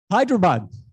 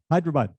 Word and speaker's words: Hyderabad: from hyderabad india um ben knows how to pronounce that well is what hyderabad hyderabad uh which for centuries has been famous for